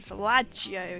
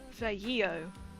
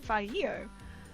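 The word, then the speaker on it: Vallejo: going, oh, she said Fallaggio again, just be like, excuse me, there's no J. Please tell me. Also, I think the double is pronounced ye. So if it's Veio.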